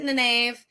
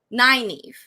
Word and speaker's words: Nynaeve: I pronounced it in the Nave. I will tell you, Lionheart Leah, I don't want to break your heart or anything. It is canonically Nynaeve. Yeah, that's the right pronunciation.